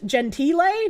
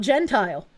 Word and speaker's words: Gentile: Also, it's Gentille, not Gentile.